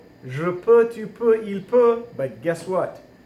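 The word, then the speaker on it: peut: report you put you put but guess what pronounced the same spell different so this is a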